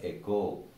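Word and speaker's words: οἶκος: Now, this term E-C-O is derived from the term O-I-K-O-S. This is a Greek word, echo. Now, though we, most of us, have this bad habit of pronouncing it as oikos, it is actually pronounced as echo.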